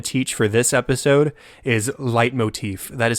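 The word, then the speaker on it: leitmotif: I want to teach for this episode is light Motif that is spelled l t m o t f and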